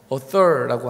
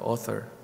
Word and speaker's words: author: author라고 하는 단어죠. author. TH 발음을 힘쓰고 있습니다.